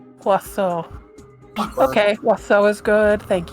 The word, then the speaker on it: oiseau: It is French for bird, so it's oiseau. Oiseau.